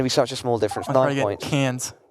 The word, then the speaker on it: Cairns: such a small difference cans Cairns every time I try and say that enough really well c-a-i-r-n-s like oh it's actually pronounced cans anyways in an Australian accent I wouldn't even dare